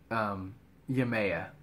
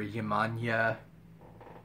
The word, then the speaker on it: Yemaya: Yemaya, or Yemaya. There's a lot of pronunciations and variations on her name because she was later adapted into several Latino cultures as well.